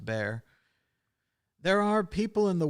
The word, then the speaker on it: Bar: he was growing up, often shortened to Bar, pronounced Bear.